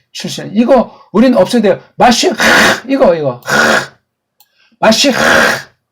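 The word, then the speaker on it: מָשִׁיחַ: 또는 메시아 또는 메시아 다 엉터리 발음들이에요. 마쉬, 요게 정확한 발음이에요.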